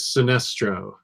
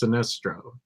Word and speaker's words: Sinestro: to be really good that is Sinestro or Sinestro however you want to say his name I've always said it's Sinestro I say specialty good